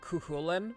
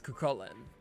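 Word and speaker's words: Chulainn: tend to see a lot of people will pronounce it like cuin, which is not true. You could read it that way, but it's not how the actual name is pronounced. It's kullen.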